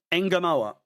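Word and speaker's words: Ngumoha: Engamou.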